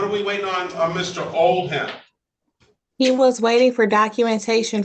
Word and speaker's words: Oldham: I pronounce it as it's pronounced in the dictionary. Silent H.